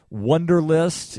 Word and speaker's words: Wunderlist: using a task organizer wunderlist is the name of that it's spelled w u nder li st so it's like the word wonder but it's spelled with a u and again i'll post